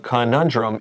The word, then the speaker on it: conundrum: without a good answer a conundrum is c-o-n-u-n-d-r-u-m you you know the word drum like drum c-o-n-u-n and then drum NATO so who do